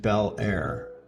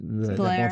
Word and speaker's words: Bel Air: And I think it's funny that you pronounced it Bel Air. Most people here is Blair.